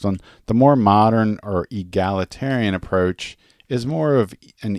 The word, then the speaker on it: egalitarian: It was called, did I say egalitarian? Egalitarian. The teacher in me is going to teach him how to say it the right way. So we're talking about gals. So egalitarian.